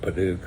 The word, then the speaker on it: padauk: I think American English they pronounce it padock, but I've always called it padauk my whole life.